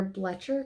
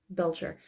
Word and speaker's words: Belcher: and stella it is their bletcher cup bletcher family colorway belcher i keep saying it wrong it's a bob's burger